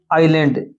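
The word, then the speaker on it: island: पहले में देखो भाई श्रीलंका इज आइलैंड। अब क्या है अभी? आइलैंड है ये। तो यहां पर एन आएगा। क्या आएगा अभी? एन। आपको एन लगाना था। यह इसकी उच्चारण है वह आइलैंड है।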